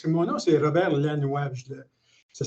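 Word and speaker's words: Lanoix: J'ai vraiment un truc infaillible parce que mon nom, c'est Robert Lannoy. Ça s'écrit vraiment L-A-N-O-I-X.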